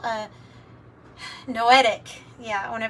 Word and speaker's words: noetic: Consciousness it's called a noetic yeah I when to pronounce it right no etic no o e t i c no consciousness and and